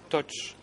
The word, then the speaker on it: Toch: le Président, j'entends que l'interprétation me parle de Dok Kam Dun et Dok Pön. En fait, si je ne me trompe pas, malgré ma mauvaise prononciation, c'est bien Toch. Toch Kam Dun et Toch Pön, son frère. Donc, c'est pour l'interprétation en